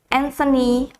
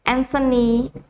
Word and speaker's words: Anthony: minister of australia is anthony albanese anthony so this is the correct pronunciation when we say um the name it's not anthony it's anthony and because it has t and h together so we say the